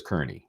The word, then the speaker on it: Kearney: We know that Cosgrave, and I'm going to continue to call him Cosgrave until he learns how to pronounce Kearney's name correctly. He says Kearney, always, no matter what.